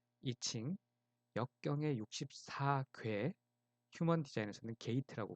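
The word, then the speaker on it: I Ching: 그리고 영어로는 이칭이라는 용어를 중국식 발음 그대로 사용하고 있습니다. 이칭, 역경의 64궤, 휴먼 디자인에서는 게이트라고 부르는데요.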